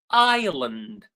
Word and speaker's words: island: Island. Island, as I said, is a piece of land surrounded by water. Island, the S is silent.